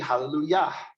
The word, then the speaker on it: hallelujah: yah it's yah and when you say hallelujah it's actually hallelujah praise yah so give me a